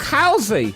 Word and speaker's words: Halsey: Halsey.